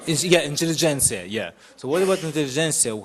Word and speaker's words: intelligentsia: Intelligentsia.